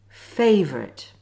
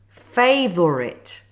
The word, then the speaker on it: favourite: Good, so now it's time for the Silent O. Watch and listen first to how it's pronounced. Favourite. Chocolate Catholic. Comfortable. Now see how the words are spelt Favourite Chocolate Catholic. Comfortable, not favor it.